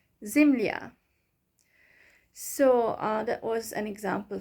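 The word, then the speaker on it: земля: way it is pronounced zimly ah so still at the end you hear a sound but um the ya letters softens the consonant before it zimly ah zimlia so that was an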